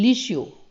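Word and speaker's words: leisure: लिशियो, next spelling है लिशियो, LEI ली, ठीक है। यहाँ पर झूठ नहीं है, लाई नहीं बोला मैं, ली बोल रहा हूँ, LEI ली श्योर, SUR ली श्योर, ठीक है, खाली समय।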